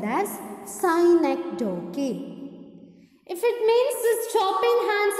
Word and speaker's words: synecdoche: Second one is synecdoche. Look at the word I pronounce.